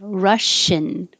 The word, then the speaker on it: Russian: for ing rushing and that's different than russian where the second part is in and the tongue stays lower russian and then it